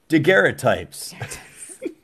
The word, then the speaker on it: daguerreotype: Daguerreotypes. Was that one of your Wanted to tabs? make sure I pronounced it correctly. Daguerreotypes, because it's a French word and I'm terrible.